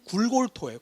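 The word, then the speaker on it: גולגלתא: 원래 발음은 굴골토예요.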